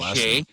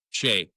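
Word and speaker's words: Skjei: How do you pronounce that guy? Shay. Yeah. Shay. Brady Shay.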